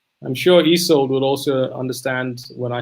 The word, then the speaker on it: Ysolde: the first name um so it's e it's let's just try it it's e e is e and then salt is sold yes that's it i'm sure easold would also understand when